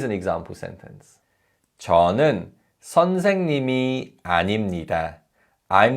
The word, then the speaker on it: 아닙니다: And just like 입니다, because of nasalization, this is pronounced 아닙니다. 아닙니다.